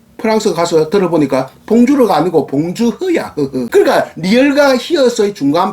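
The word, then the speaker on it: bonjour: 그래서 봉주르 하면 봉주르 이렇게 발음하는데 제가 한 달 반 정도 프랑스 가서 들어보니까 봉주르가 아니고 봉주흐야.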